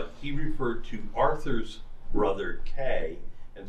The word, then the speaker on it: Kay: I just realized you pronounce it K. Yeah, it is pronounced K.